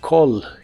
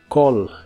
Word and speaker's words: call: y usaremos el verbo call que significa Llamar la a se pronuncia como o y la doble l se pronuncia como una l normal Call call y usaremos el